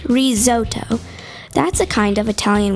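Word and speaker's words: risotto: meanwhile Chef Doug made risoto pronounced rizoto that's a kind of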